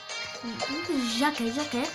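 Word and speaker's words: Jake: Jacke. Yakması lazım. Jack diye okunuyor.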